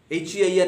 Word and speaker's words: heir: H-E-I-R, not hair, but heir.